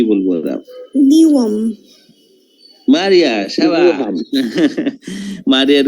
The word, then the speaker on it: Newham: নিওয়াম। মারিয়া, শাবাশ। মারিয়ার উচ্চারণটা ঠিক আছে। এটা কিন্তু হ্যাম উচ্চারণ ওরা করবে না।